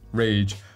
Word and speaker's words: RGE: rage it's called well technically it's the nike maverick r g e but it's pronounced rage i don't know do